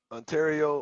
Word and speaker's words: Ontario: mug from I want to say it was Ontario or it was Toronto. It was one of them. But yeah, this is when I had the other Freightliner, the one that we sold. But yeah, Ontario.